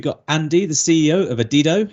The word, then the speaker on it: Adido: this conversation just before we went live it's pronounced adido uh I sounded like an idiot when we came on I was trying to get it right saying adido which sounds stupider the more I listen to